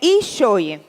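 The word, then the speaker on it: ἰχθύς: pode passar em grego a pronúncia tá bom é echoia a pronúncia pode passar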